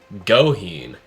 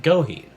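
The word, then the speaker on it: Gohin: Afterwards, Shuichi went up against a well-known, well-beloved Beastars character, Goheen, is now how I should have pronounced it this entire time, Goheen.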